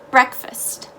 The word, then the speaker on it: breakfast: didn't have breakfast breakfast so that a in breakfast is actually going to be in an i sounding a breakfast and the ea does not become break it becomes break the a is silent and it just becomes an sound breakfast breakfast now you walk into